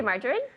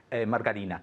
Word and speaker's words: margarine: but not real okay how do you say margarine Margarita there you go margarine okay so I don't have